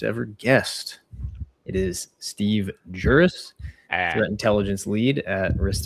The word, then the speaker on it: Guris: Yeah, I I was going to go with the with the other G pronunciation, but I'm I'm glad I clarified that Juris.